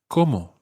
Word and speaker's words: como: No, the word como meaning how and the word como meaning I eat sound exactly the same. There is absolutely no difference in pronunciation.